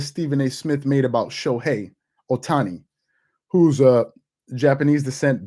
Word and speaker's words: Shohei: um you know it's absurd i'm just okay shohei that's how you pronounce his name okay a few things i